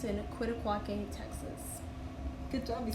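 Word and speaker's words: Quitaque: It's called Caprock Canyon, and it's in Quitaquaque, Texas.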